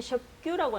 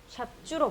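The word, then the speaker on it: ཞབས་ཀྱུ: 그 다음에 요거는 교재에는 샵규라고 나와 있는데 보통 티벳 사람들이 많이 읽을 때 샵주라고 많이 발음을 하거든요. 샵주로 발음해 주시면 됩니다.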